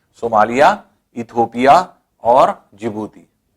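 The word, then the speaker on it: Djibouti: हैं आप यह देखिए जिबूती डी से लिखा जाता है DJ आईजीबीओ यूटीआई भी लेकिन साइलेंट है इसको जिबूती पड़ते हैं तो इस तरह से आप हुआ था चेंज 1 जिबूती चड्डी जो है वह साइलेंट होता है इसलिए जिबूती देश हैं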